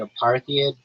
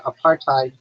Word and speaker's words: apartheid: And after um after the aparthid period like they started becoming targets.